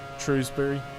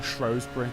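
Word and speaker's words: Shrewsbury: the stream oh gosh shrewbury town center fair enough or shury depending on however you want to pronounce Ito don't like Len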